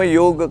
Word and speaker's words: योग: मैं तो कहता हूं वह शब्द योग है और वैसे ही कहना होगा योगा कहने से कुछ फर्क नहीं पड़ेगा और योग कहने से फर्क पड़ेगा ऐसे सोचो मूल संस्कृत शब्द है वैसा उच्चारण हमने ही करना है बाकी दुनिया योगा योगा करके उस सबका भ्रंश कर रही है छोड़ दो कहने का